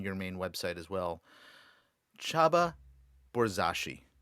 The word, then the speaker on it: Csaba Borzasi: main website as well chaba borzashi how did i do awesome really really well i know it's hard to pronounce my name it's a hungarian name by the way if